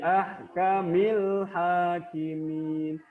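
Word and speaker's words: أَحْكَمِ الْحَاكِمِينَ: Bi ahkamil hakimin. Jadi haknya itu diibaratkan bulan, alif lam diibaratnya bintang. Jadi alif lamnya itu tetap terbaca, jelas.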